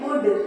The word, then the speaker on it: would: WOULD वुल्ड होना चाहिए, लेकिन इसको हम पढ़ेंगे वुड।